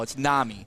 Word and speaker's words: NAMI: thick thick midwestern accent i've been saying nami or nami yes nami no it's nami so it's not no